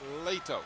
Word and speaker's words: Leto: That is, actually I pronounced it, I listened to him, it's Leto.